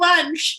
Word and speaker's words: Vansh: I was like, it rhymes with munch.